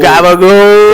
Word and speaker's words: capicola: Oh, gabagool. Gabagool. It's spelled capicola.